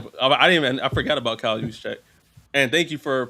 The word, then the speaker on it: Juszczyk: We're fading Brock Purdy because of Kyle Juszczyk. No, I'm not fading him. I forgot about Kyle Juszczyk. And thank you for pronouncing his name, because I forgot how to pronounce that motherfucker.